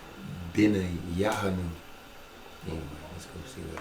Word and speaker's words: Benaiah: And they're missing another syllable. Benaiah.